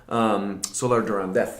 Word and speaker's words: Solar de Randez: Solar de Randez, actually, if you pronounce it in the local idiom.